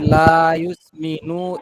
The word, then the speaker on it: لا يسمن: لا يسمن ولا يغني من جوع এখানে লা ইউসমিনু, এখানে একটু টানের মতো হয়ে যায়, এটা একটু খেয়াল করতে হবে যে হরকত উচ্চারণ তাড়াতাড়ি হবে, টান যেন না হয়।